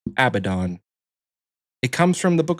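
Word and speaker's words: Abaddon: The name is pronounced Abdon.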